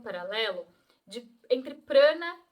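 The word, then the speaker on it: prāṇa: prana também para acontecer prana né seria o jeito certo de falar aqui eh e tem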